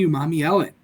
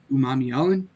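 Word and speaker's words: Umanmielen: guy uh one princely Umami Ellen uh people struggle to pronounce that last name uh again it's Umami Ellen for those who struggle uh the pass rusher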